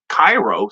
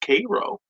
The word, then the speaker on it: Cairo: It's not Cairo, Cairo, like Egypt. It's pronounced Cairo, like syrup.